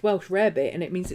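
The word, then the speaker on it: Welsh rarebit: to people that well welsh rabbit is not pronounced welsh rabbit and it's not rabbit it's pronounced welsh rabbit and it means it's cheese on toast yes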